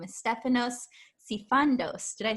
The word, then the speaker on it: Stefanos Sifandos: with his lovely presents and his name is stefanos sifandos did i say your last name right you did yeah i love how it rhymes stephanos it's very fun to say and